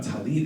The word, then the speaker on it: tallit: So when we think about tallit and tallis, right? One is a much more Eastern European Ashkenazi pronunciation. It is correct. There's nothing incorrect about calling it a tallis. But one might, from a scholarship standpoint or from an American Hebrew standpoint, tallit would be the more scholarly way of saying it, right?